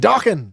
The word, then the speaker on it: Dokken: For some reason, I always pronounced it Dokken. No, man, Dokken.